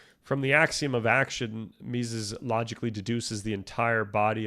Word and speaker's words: Mises: This uh is it Mises? I feel like I'm butchering his name. You're looking at how to pronounce his name over there. Austrian economist in German it said that as Luton Mises Mises okay uh for Mises this is a static